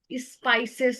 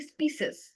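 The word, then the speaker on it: species: হ্যা তারপর হচ্ছে ইয়াতে স্পাইসেস না এরকম করে উচ্চারণটা করেছিলেন উচ্চারণটা হচ্ছে স্পিসেস স্পিসেস ঠিক আছে বা স্পিসিস এরকম তারপরে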